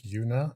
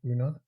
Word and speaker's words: Una: think I just pronoun I think it's Yuna not una I remember yeah I